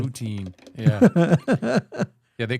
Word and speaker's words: poutine: you're from New Hampshire, you call it Putson, which Putson makes no sense because it's not spelled Putson. It's spelled poutine, just like you said.